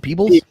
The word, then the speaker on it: Peebles: Peebles? Peebles, yeah. Yeah. Because Pebbles is 1 E 2 B. Yeah. So it's Peebles.